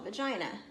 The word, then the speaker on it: vagina: She has a little opening called a vagina. It rhymes with Carolina.